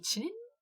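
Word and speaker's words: qilin: Du coup, en chinois, c'était plutôt les chilin. Kilin. C'est bizarre. Le Q, ça se prononce chi.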